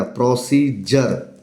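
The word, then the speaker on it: procedure: अब डी के बाद यू आर ई आया है तो क्या बन गया? प्रोसीजर प्रक्रिया।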